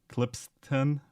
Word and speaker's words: Klippsten: Klippsten or Klippstein? Klippsten, yeah. Klippsten. Klippsten. It's not easy for me to pronounce, it's quite a mouthful.